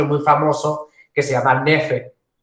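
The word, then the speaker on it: knafeh: En ese pan se sirve un postre muy famoso que se llama nefe. El nefe se escribe K-N-A, bueno, ahí está, nefe, muy bien.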